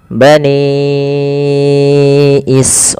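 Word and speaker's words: بَنِي إِسْرَائِيلَ: Ro awalnya dua harakat. Karena data setelahnya hamzah maka dipanjangkan dia empat atau lima harakat.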